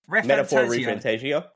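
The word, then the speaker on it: Metaphor: ReFantazio: So Metaphor Refantasio. Cool. No, I didn't know how you pronounce it.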